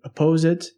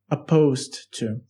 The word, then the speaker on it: opposed: opposed to something so a lot of students they mispronounce it and they say oppose it it's not correct it should be opposed to so that means against